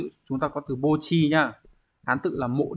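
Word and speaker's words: 墓地: Còn âm ghép đọc là bo, ví dụ chúng ta có từ bo chi nhá.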